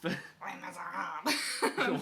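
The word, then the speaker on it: Les Misérables: Or Les Miserables, if you want to be fancy about You're it. not pronouncing it French enough. Les Miserables.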